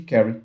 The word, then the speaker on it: carry: Aí esse vai 1 é exatamente o bit de carry que a gente ia colocar aqui.